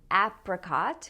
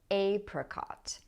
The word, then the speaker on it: apricot: So I say apricot with the a sound as in cat, but some people pronounce this with a long a, apricot.